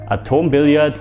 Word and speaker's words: Atom-Billard: As mentioned, today's bonus clip isn't about Instagram but about Atom-Billard, or how you would pronounce it as a German, Atom-Billard, and they changed my felt on the table on my rails quite a while ago.